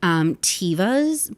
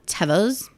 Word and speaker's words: Teva: I bought Tevas, but I was actually told today they're pronounced Teva. I brought Tevas. I don't like that. I'm saying Teva.